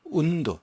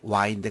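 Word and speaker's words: wound: 움 도 여기 변합니다 그런데 운도 좀 발음이 와인드 가 아닙니다 운도 입니다 온 듯 온 레이드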